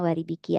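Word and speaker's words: 割引: pertama itu ada waribiki wariki itu bacanya waribiki ya guys sini cara bacanya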